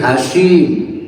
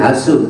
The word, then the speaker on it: Hashim: Kalau Abdul Muttalib mungkin ya bin Hashim, lain Hasum ya, Hashim. Hashim itu apa?